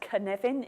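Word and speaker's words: Cynefin: most difficult thing about canvan is how to pronounce it it's pronounce canevin it's spelled copin it's a Welsh word it was created by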